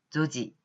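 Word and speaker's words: 女児: 여자아이 여아라고 할 때 또 다른 한자 아까 난시하고 난지가 있던 것처럼 조시에 대비해서 여아라고 쓰였을 때는 조지, 조지라고 발음을 하시면 되겠습니다.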